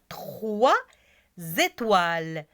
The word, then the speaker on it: trois: il faut rappeler 3 on prononce pas l'être s mais lorsque je dis étoiles je vais dire trois étoiles et toiles trois étoiles c'est clair maintenant on